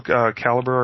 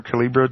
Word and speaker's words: Calibre: Yes, Sigil, Calibre, or Calibra, depending on how you want to pronounce it.